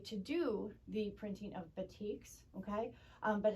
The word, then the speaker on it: batik: early 1900s indonesia produced batik and that's how it's pronounced bati okay um with a canting